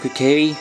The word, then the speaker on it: Kokiri: I'm just gonna quickly find out how to pronounce that name. So I went on to translate and find out it's called Kokiri.